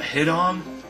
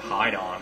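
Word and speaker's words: Hidon: But as his name implies, the Hit-On is extremely difficult to find. The Hide-On. It might be Hide-On, is how you say that.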